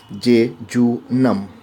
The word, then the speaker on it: jejunum: should pronounce this je spelling is je je u nu m and we should pronounce j to numb the length of jejunum